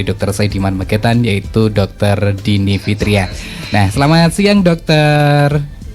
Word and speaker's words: Dinnie: ini kalau nama saya Dini Ya oke jadi Nama saya Dine jadi saya biasanya harus spelling ini karena kadang-kadang tetap dibacanya kalau nggak dingin jadi saya agak nouns